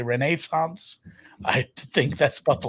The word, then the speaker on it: Renaissance: home I will say it is pronounced Renaissance that's how they say it over there um I've watched some BBC TV uh Kunk Kunk on Earth has taught me how to say Renaissance I think that's about